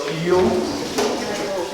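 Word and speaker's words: Thiel: It's Teal College. Anybody know how to spell Teal? T-E-A-L. Close? Not? That's the duck. The teal duck. T-H-I-E-L. Teal College.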